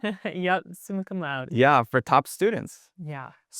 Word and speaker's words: summa cum laude: And you were, I think I'm going to mispronounce this. It's summa cum laude, right? Yep, summa cum laude.